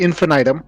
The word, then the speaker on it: Infinitum: correct me the uh it is actually infinitum yep yeah infin item I kind of figured it was one or the other the one and only